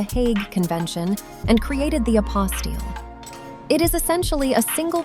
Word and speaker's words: apostille: It is pronounced apostile and it is the ultimate bureaucratic hurdle you never knew existed.